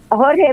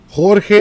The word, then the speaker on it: Jorge: too but uh uh Jorge Martin is an expert World known he's on Facebook Jorge Jorge Jorge Jorge is George right basically okay but it's spelled with the J j-o-r-g-e Martin Miranda Miranda Martin anyway